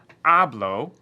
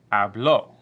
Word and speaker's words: habló: So instead of saying hablo, like this, we're going to say ella habló.